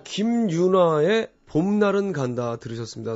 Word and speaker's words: 김윤아: 자, 김윤아의 봄날은 간다 들으셨습니다. 3098번님이 각서 얘기한 지 1시간도 안 되는데 김윤아를 김유라로 발음하시는 도현님.